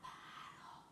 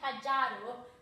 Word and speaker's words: pájaro: Un pájaro. Un pájaro. And as you can see, it's got the letter J in it, but we don't say pájaro, okay?